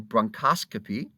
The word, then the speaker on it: bronchoscopy: And if they were doing this, now note the pronunciation, as you've seen previously, if they're using a bronchoscope, they are engaged in the act of bronchoscopy.